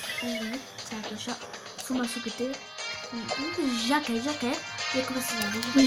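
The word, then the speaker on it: Jake: Jacke. Yakması lazım. Jack diye okunuyor.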